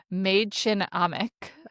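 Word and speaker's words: Mädchen Amick: And then Sherry, who is played by I assume that you looked this up and spelled out how to pronounce her name. Maid Chin Amik.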